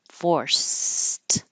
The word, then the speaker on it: forced: an example of it looks like Ed but sounds like a t because the final sound in the word is voiceless forced however if I'm following